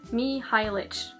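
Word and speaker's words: Mihajlich: Some people told me how to pronounce it in my currently reading video. Mihailich.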